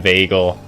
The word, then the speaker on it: Vagel: Yeah, I'll just call him Vagel, actually. That seems so much better. Than, like, it maybe being pronounced as a J. Just, like, rhyming it with bagel sounds way better.